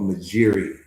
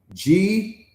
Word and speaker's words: Majiri: There's an app and it's called Majiri, right? There's an app called Majiri, right? It's spelled Magiri. That's okay, beloved. Let me say that one more time. Magiri.